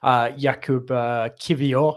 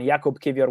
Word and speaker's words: Jakub Kiwior: Jakub Kiwior, I think it's pronounced.